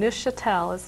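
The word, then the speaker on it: Neufchâtel: It's spelled a little different. It's French in origin. It's Neufchatel. And Muscatine is how it's pronounced, and I can't tell any difference between the two.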